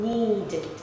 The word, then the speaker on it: needed: Needed. Needed. Okay. The ending sounds becomes id. Id.